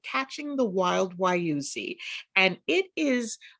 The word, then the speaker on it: Wayuzi: There it is, Wayuzi. Yeah. And you sort of. Oh, that comes from wait, you'll see. Wait, you'll see, Wayuzi.